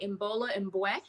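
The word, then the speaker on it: Imbolo Mbue: I practiced how to say her name because I learned it from the audiobook, by Imbola Mbwe.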